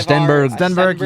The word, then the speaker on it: Stenberg: Ivar Steenberg, is that how you pronounce his name, Hunter? Something like Steenberg, that. yeah. Stenberg, yeah.